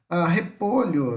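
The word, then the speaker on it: repollo: Em português escrevemos com LH, em espanhol é com dois L's. Mas o som é o mesmo.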